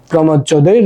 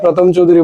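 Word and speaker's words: প্রমথ চৌধুরী: গদ্য রচনাটি কার রচনা প্রমদ চৌধুরীর রচনা তোমরা প্রমদ চৌধুরী আবার উচ্চারণ করতে গিয়ে প্রথম চৌধুরী বলে থাকো আচ্ছা যাই হোক বীরবলে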